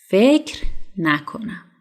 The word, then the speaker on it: فکر نکنم: But in a spoken Persian, they usually don't say فکر نکنم. Usually the letter ر doesn't pronounce strong. You know, you can say فکر نکنم. فکر نکنم. Instead of فکر نکنم, it's a little bit hard.